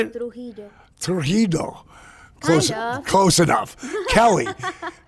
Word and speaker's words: Trujillo: When I think of that, I freaking think of Stephanie Trujillo. Did I get it right this time? Trujillo. How do you say it? Trujillo.